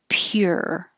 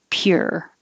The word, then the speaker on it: pure: no choice poor 23 your tongue starts in a high position pure so it looks like a u but it sounds like an ER pure 24 is the same